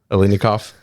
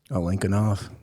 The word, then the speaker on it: Alinikoff: How do I pronounce your last name? Alinikoff?